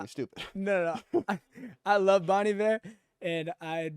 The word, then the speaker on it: Bon Iver: Is that how you say it? Bon Iver? Bon Iver, yeah. I did not know that. I thought it was Bon Iver.